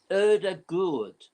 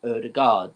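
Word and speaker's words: Ødegaard: moment erdegaard or actually i looked up the pronouncing of his name it's erda good that's what the the the second day which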